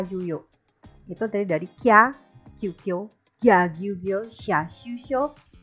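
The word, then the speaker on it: きゃ: Kya, bukan kia, perhatikan, bukan kia tapi kya.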